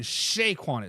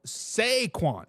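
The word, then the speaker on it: Saquon: people on the YouTube says I was saying it wrong I was saying Shaquan is sequan sequan Barkley is the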